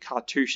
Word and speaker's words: cartouche: cartouche of solidarity and i had to check that that cartouche is how you say it so these are auras in chairman aurora's apparently they're aura katush i'm not sure what